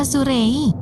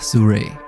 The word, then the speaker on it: Sirui: dibuat untuk… Nur: Kenapa Surei? Bukankah itu Sirui? Iya Nur Kalau dalam bahasa Indonesia mungkin itu dibaca Sirui tapi mereka bilang cara bacanya yang benar adalah ''sue-ray'' Nur: Oke Mister Din sekarang saya mengerti!